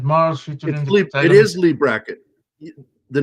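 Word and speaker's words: Leigh Brackett: Black Amazon of Mars is a science fiction novel by Lee Brackett. Okay. Sorry for what I just did to that name. It's set on planet Mars featuring Lee. It is Lee Bracket.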